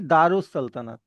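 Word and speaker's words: دار السلطنت: तो इसकी जो प्रोनाउंसिएशन होगी, वो होगी दारुस सल्तनत। मतलब आपने इसको सल्तनत की दार जगह उल कुछ, नहीं पढ़ना, दारुस पढ़ोगे।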